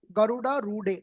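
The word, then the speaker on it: गरुडारूढे: Garuda Rudhe. That's how you pronounce it. Garuda Rudhe. First da. Garudarude. The next second da should be da.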